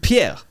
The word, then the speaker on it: Pierre: if it's better okay well hey uh it's Pier right yes yeah cuz again I'm not used to the language so pronunciation can be off you know maybe it's Pier Pier pierer Pierre and your last name is